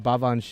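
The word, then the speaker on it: Baobhan: I just ruined her name baban Sith it's pronounced bavan okay I did get it right actually okay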